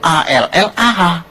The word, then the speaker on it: Allah: Cuma dia membacanya, ngejanya beda sama kita. Kalau kita cukup Allah gitu. Kayak bercanda sama teman aja, Allah lu gitu aja tersinggung gitu ya. Kayak begitu, ringan gitu. Bacanya itu ringan. Tapi kalau mereka itu terpengaruh dengan bahasa Arab. Jadi nggak ringan, Allah.